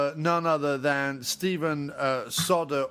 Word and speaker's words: Soderbergh: other than Stephen uh Solder or Soderberg, depending on how you pronounce his name.